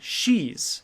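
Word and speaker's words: sidhe: such as fairies or as they call them she's it's spelled s i DHS but it's pronounced she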